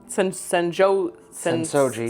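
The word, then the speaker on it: Sensō-ji: Yeah, so in the videos, the highs that we talked about, both of us said the Sensoji Temple, Sensoji, you said it right.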